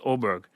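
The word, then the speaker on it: Åberg: It's capital A, but it's pronounced Oberg. DeChambeau 3. Oberg is 4, DeChambeau 3, and then Schauffele, Davis, Hoggard are 2.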